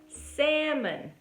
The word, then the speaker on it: salmon: mas todo mundo fala o quê? Salmon, salmon, né? Porque a gente fica com tanto medo de não falar o L, né? A gente fala salmon, salmon. E é salmon, tá?